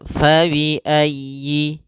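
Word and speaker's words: فَبِأَيِّ: Fabiayyiuma tukadziban pada lafal fabiayyi ala di sini sempurnakan huruf y-nya ditekan faayyi kemudian langsung ke a.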